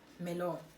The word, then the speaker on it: Merlot: I have to now pronounce things and silent double T. Wow, it's levels, baby. The first one that I drank is Merlot.